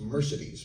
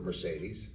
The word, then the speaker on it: Mercedes: So her name is pronounced Mercedes McCambridge. That's the, I called her Mercedes. Everyone called her Mercedes because there's a automobile.